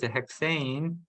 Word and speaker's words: hexane: 네, This one we call 한국말로 하면 헥산이고 헥센인데 in English it pronounces hexane, hexene.